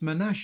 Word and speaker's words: Manasseh: Manuetis was the tribe of Manasse pronounced Manache in the Hebrew tongue.